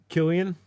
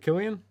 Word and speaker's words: Cillian: Isn't it Killian? No. Yeah, it's Killian. I don't think that's right. No? I mean, it's not even spelled with a K.